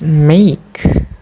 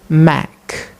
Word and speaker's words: make: They don't pronounce it as make, but this word is produced mac, mac by the learners.